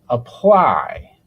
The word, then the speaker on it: apply: Now, let's look at the word apply. apply for this word. The stress is on the second syllable. So the vowel sound in the first syllable for the a sounds very different.